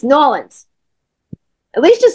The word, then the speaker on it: New Orleans: nails on a chalkboard when I hear people say New Orleans I'm like no one that's not how you say it come on it's not how you say it's noan have some respect have